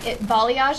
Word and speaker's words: balayage: Balayage, is that how you say it? Yeah. I've never heard it. I've always seen it, in text. I haven't heard it. I'm like, oh, that's how you say that.